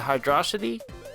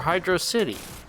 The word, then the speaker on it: Hydrocity: the music I noticed there is some debate over how you pronounce the name of the sun is it hydrosity or Hydro City I personally have always pronounced it hydrocity as far as water